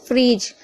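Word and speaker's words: fridge: फ्रिज यहां पर भी देखिए डी के बाद जी है तो डी साइलेंट है।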